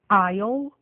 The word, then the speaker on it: aisle: Nos casos a seguir, o S e o L aparecem na palavra escrita, mas o S não é pronunciado. Ouçam, repitam e gravem. aisle, island, A classic false friend.